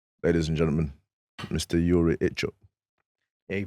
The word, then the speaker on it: Ichtchouk: Yuri Ichtchouk. Yeah, you pronounced it right as well. I've been working on that, yeah, you know. Ichtchouk, yeah, I've cool.